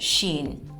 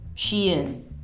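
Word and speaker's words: Shein: Amazon of course and Sheen or Shin I think that's the correct pronunciation shin next topic relationships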